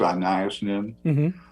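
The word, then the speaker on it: Anaïs Nin: since I read her an nin um I think some people pronounce anas nin um who wrote a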